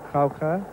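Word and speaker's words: Gouka: to that right-handed batsman eric croucher that's how it's pronounced although there's a g there our expert robin jackson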